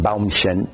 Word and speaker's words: Baumchen: That would be the correct German pronunciation, Baumchen. I don't know how he pronounces, probably Baumchen or something like that.